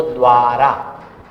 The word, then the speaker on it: द्वारा: द्वारा, इसका मतलब हम व नहीं पढ़ रहे हैं, वा पढ़ रहे हैं, और दा नहीं पढ़ रहे हैं, और जबकि उच्चारण द का पहले हो रहा है, द्वारा।